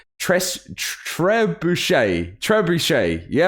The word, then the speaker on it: trebuchet: just going to get it wrong tres trebuche trebuchet yeah right i got that right i always